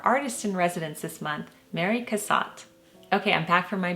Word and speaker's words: Cassatt: of Mary Cassatt yes and the original chic assignment I pronounced her name as Mary Cassatt I have always called her that just from my art history class in college and plus I created a little rhyme for my children to remember her name Mary Cassatt had a very nice hat but as many of you pointed out her name is actually pronounced Mary Cassatt so I apologize for